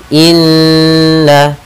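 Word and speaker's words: إنّا: kita namakan Dengan gunah cara membacanya adalah kita menahan suara nnya dua harakat Inna kemudian na pada lafal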